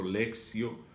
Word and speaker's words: lectio: En latín, la T se pronuncia como si fuera la C de casa. Por eso, lectio divina, como si fuera una doble C.